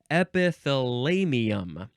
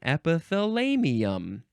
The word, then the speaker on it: epithalamium: don't know what that suffix means next is epithalamium epithalamium e p i t h a l